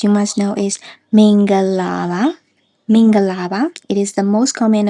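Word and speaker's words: မင်္ဂလာပါ: And if we break down the phrase except for ga which is pronounced with a short tone, the rest are all middle tones.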